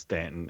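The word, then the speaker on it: Staunton: That's how we know you're a Yankee if you pronounce it wrong. I know. It's It It looks like Stuntton, but it's Stanton and it's near Charlottesville.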